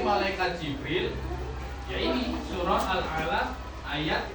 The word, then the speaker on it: Al-Alaq: Kalian tahu surah Al-Alaq enggak? Apa? Bacanya gimana? Al-Alaq, bukan falak. Al-Alaq. Ya, ayat pertama nih.